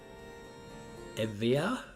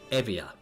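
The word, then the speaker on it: Euboea: Because it's like EU is Ev and the B is a V, and that's Ia. So I think it's Evia, or I'm not entirely sure where the accent goes.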